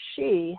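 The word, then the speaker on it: sidhe: been called the she pronounced she and spelled s-i-d-h-e in the celtic islands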